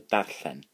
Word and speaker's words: darllen: So that's quite a hard word to pronounce. So dar, so D-A-R, and llen, double E, which is that, so you can like as previous lessons going la, but make blowing, so n, llen, so darllen.